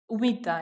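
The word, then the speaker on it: humita: could say with cheese another umita yes with starts with h silent you don't you don't read the h yes yes exactly so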